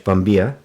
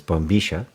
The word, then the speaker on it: bombilla: It is pronounced in Spanish, bombilla. I learned, with Spanish I learned in Argentina, so it's bombilla.